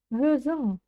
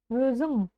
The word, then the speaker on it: өзің: Өзің, өзің, өзің қалай. Вспоминаем «н» с хвостиком, кончиком языка тянемся к верхнему небу и, не дотягиваясь до него, произносим обычную букву «н».